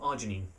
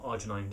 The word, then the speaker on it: arginine: The downside with milk is that it also has a lot of arginine, or arginine, depending on how you want to pronounce it.